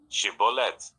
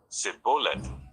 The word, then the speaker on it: Shibboleth: If he replied no, they said, all right, say Shibboleth. If he said Sibboleth, because he could not pronounce the word correctly, they seized him and killed him at the fords of the Jordan.